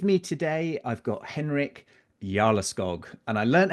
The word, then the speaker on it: Jarleskog: With me today, I've got Henrik Jarleskog, and I learned how to pronounce that as it translates to the Earl of the Forest in Swedish.